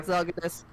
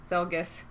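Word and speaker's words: Zelgius: Zelgus. Zelgus. 3 syllables.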